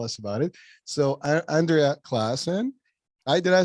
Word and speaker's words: Claassen: her to tell us about it so Andrea Clon I did I say it right Clon so yes yeah okay good I was like